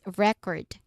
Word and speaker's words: record: That's record where the first syllable is stressed. For record, the second syllable is stressed. It's a What kind of part of speeches do you think it is? It is it's the verb. So we um here record the pronunciation. Yeah. The stress syllable is on the second the second one.